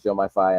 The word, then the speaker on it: Diomaye: and I I do want to correct my pronunciation it is Jo myi and I was saying F earlier so apologies